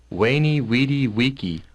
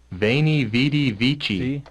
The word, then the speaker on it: veni vidi vici: wiki waney weedy vici that was the actual pronunciation of that you know but but then that's why they put it first because that that's the classical Latin now the modern Latin veni vidi vici veni vidi vici so